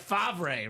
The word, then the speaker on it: Favre: I had the single season sack record taken down Dom's boy, Brett Favre, right? It is Favre. I just call him Favre. Just so they know I didn't butcher that.